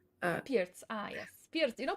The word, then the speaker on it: Pirc: Sorry, Pierce. I don't know how to pronounce it. PIRC. Pirc, ah yes, Pirc.